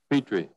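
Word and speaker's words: Pitre: And is Tim Peter, how does he pronounce his name? Poirier, but his agent is Jim, P-I-T-R-E. Petrie.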